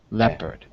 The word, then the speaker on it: leopard: leopard leopard yeah okay that's the short sound of the E it's the e sound leopard now there's two things